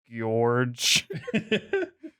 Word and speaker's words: Gorge: See, it looks like George, but there's enough O's there that you have to pronounce it George.